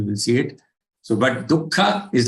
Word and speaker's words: दुःख: Dukkha shokamaya pradaha. You are aware that after du, the visarg is there, which has to be pronounced as half ka.